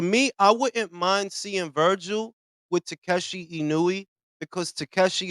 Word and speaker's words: Virgil: um opportunities for young virgile I like mispronouncing his name virgile I put a e at the end of that instead of Virgil it's virgile be mispronouncing that [